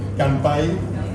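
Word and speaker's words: 乾杯: que está con mcampay sea es como tempura que se acercan en español con m pero en japonés se escribe con N y Campa hay que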